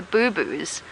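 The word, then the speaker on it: boubou: It's spelled B-O-U rather than B-O-O. So not like a boo-boo that you get when you fall over and hurt your knee.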